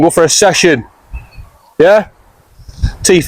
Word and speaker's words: Teef N Lure: Teef N Lure, but it's pronounced funny. Alright. It's like, if you're Yorkshire man, we're going to go like Teef, you know what I mean, how they say it. Oh yeah. Teef and then Lure.